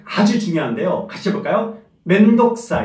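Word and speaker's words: めんどくさい: 맨 독사 해야되나 그러나 맨 도우 발음을 좀 생각한다 고 있지만 길리 하지 않고 짧게 맨 독사 의 맨 덕 쌓인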